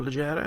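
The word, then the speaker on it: Leggera: Uh, I'm getting a lot of super legera or legera as I suppose it should be pronounced.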